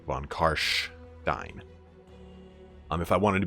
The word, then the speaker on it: von Carstein: von costs died apparently according to the way Germans pronounce it it is supposed to be von Kahr SH dine um if I wanted